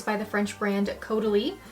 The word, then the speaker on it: Caudalie: It's by the French brand Caudalie. It's pronounced like totally.